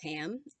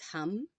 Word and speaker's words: ham: chakra is spelled ham it's not pronounced ham it's hum uh and we're gonna